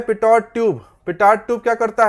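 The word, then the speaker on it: Pitot: हाँ, उसका नाम है पीटो ट्यूब. पीटो ट्यूब, पिटॉट ट्यूब नहीं है, पिटॉट ट्यूब नहीं है.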